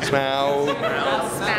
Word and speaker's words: Smaug: Smaug. Which is how it's pronounced.